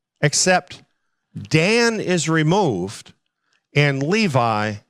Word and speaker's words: Levi: Dan is removed and Levi is the one that's taking its place or levie if you prefer that pronunciation but it's interesting here